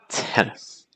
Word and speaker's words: tennis: And I want you to notice just how weak that nis syllable is. Nis. It's not tennis, because that's going to be too heavy. Instead, it's going to be more tennis. Tennis. See how that first syllable is very strong and the second syllable is very, very weak.